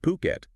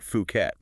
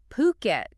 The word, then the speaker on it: Phuket: fukat since 2004 and by the way that's pronounced puket not fukat puket got it so they know their stuff then